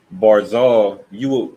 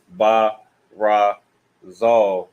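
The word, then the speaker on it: ברזל: So barzal, what you would normally want to do, follow the rule. You would want to ba ra zal. So you would want to pronounce it ba razal naturally because that's the rule, right? But this one, you connect these two characters and these two characters. So bar zal in this particular word.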